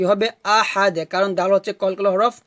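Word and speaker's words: أحد: কুলহু আল্লাহু আহাদ আহাদ হবে না কি হবে আহাদ কারণ দার হচ্ছে কলকলা হরফ তাই আমাদের এখানে কলকলা করতে হবে তো এভাবে উচ্চারণটা হবে কুলহু আল্লাহু আহাদ আহাদ আহাদ আমার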